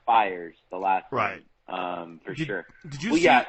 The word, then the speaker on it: Fiers: right like that Rhino it's pronounced fires the last run procedure